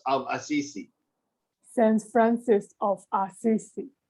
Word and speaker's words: Assisi: The letter C. Assisi. Assisi. No S at the end. Assisi. Assisi. Saint Francis of Assisi. Saint Francis of Assisi.